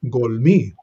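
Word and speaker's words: גָּלְמִי: on verse 16, and we see the same thing here, golmi, a closed, unaccented syllable. You see it there in the bottom in verse 16. That's another example of a kametz katan or a kametz hatuf.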